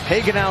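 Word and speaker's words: Hagenow: haenow now joins us they call him hags hagenau is how you pronounce the last name you got a buddy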